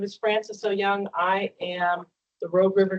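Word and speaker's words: Ooyung: Todd go ahead hi my name is Francis oou young I am the Rogue River Keeper program manager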